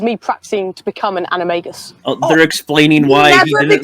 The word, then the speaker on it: animagus: practicing to become an animagus they're explaining why he didn't look like the werewolf that's not how becoming an enemy just first of all it's animagus not anime gusts okay stop [ __